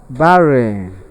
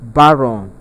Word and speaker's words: barren: The option B is pronounced as barren. People call it baron. It is not baron, but the R here is short R, and that's why we